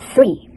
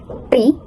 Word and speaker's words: three: So, the word three is a sound th at the beginning. This sounds does not exist in Indonesia. That's why many Indonesian learners replace it replace it with sounds that feel more familiar, like T or S. For example, three might sound like free or three.